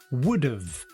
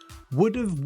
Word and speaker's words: would've: Notice my pronunciation, would have, would've. Would've, would've, would've.